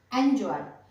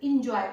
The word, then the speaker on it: enjoy: फिर है ENJOY, एंजॉय। बहुत लोग इसको इंजॉय करते हैं, इंजॉय यूज करते हैं, लेकिन इंजॉय नहीं यूज करना है, इसको ऐसे साउंड करना है, एंजॉय, ठीक है।